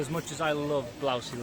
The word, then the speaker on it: Blausee: much as i love blousey lake that's how you say it is a massive massive